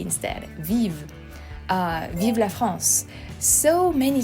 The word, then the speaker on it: vive: It's close to, but when you pronounce it, it's actually very different, Biba, and in French it's vive. The V is pronounced differently.